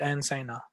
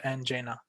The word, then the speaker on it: angina: make sense all right the candidate also pronounced the word angina incorrectly he didn't pronounce the words correctly okay so he has said and saina so he should have told and jaina all right the next